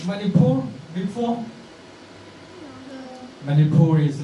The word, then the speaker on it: Manipur: - like 24 before many poor is like Singapore you know that the pronunciation the Sun is like Singapore and yeah 24 and